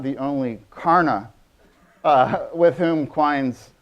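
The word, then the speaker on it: Karnaugh: up by a guy I might perhaps be pronouncing it wrong karna kar na u GH it's sort of a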